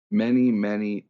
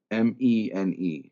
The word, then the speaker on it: Mene: Many Tekel Parson. Or how is many spelled like the modern English word many? Mene. Mene. Okay, like mene.